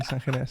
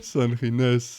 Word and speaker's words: Sangines: Did I pronounce that correct? Sangines. Sangines. Oh man, the Spanish. If we're granular today, then Sangines. But Sangines.